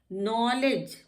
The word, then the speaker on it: knowledge: नॉलेज, नॉलेज में भी KNOW से है तो एन से पहले के है, का नॉलेज नहीं होता, ये नॉलेज होता है।